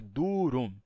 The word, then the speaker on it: durum: duros ou aqui ó duro tem dois Us e os dois US são vogais é durum duro mas na palavra